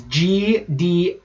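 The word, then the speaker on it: Gdańsk: How would you pronounce that name, the first? It's Gdansk. No, I actually have it right up on the Wikipedia right now. So, Gdansk, Poland. Okay. Gdansk.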